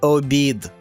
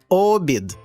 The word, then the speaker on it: обід: перетвориться на замок а це смачний обід та перемістивши наголос на перший склад ми перетворюємо його на обід колеса А це квітка